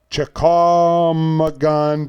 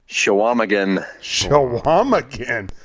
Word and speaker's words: Chequamegon: Chequamegon Bay. Chequamegon. Shawamagan.